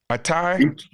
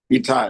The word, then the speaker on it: Itai: How you pronounce it? It's Atai? Itai, yes. Etai.